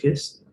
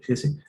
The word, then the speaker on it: Hesse: Va a quedar, voy a copiar la fórmula de Hess, de Hesse, es que es alemán, se tiene que pronunciar Hesse.